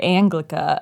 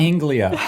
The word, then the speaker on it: Anglia: It's Anglia. Ford Anglia. There's no C in Why it.